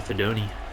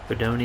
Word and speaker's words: Fedoni: I had been saying Fedon, because, you know, he was about done on this football team, but Fedoni is how you pronounce it, apparently, so that's what we're going to say.